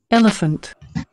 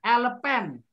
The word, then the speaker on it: elephant: to this audio everyone elephant elephant elephant elephant elephant okay so remember it the way we pronounce it we do not say alpen why do you pronounce it elephant now do you understand